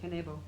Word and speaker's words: Kanebo: Currently, she holds the, how do you pronounce it? Kanebo.